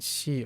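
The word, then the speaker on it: 四: By the way, both the reading yon and shi are pretty common, but because the onyomi reading shi sounds like the word for death, it isn't used as much.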